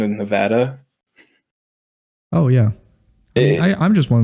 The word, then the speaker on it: Nevada: It was the Spanish pronunciation of the word is Nevada, but here in America we don't do that.